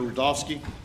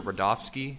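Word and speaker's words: Rudofski: you special agent rodofsky that's r-u-d-o-f-s-k-i and it's pronounced Rudolph and then ski sure agent rodolski how you doing today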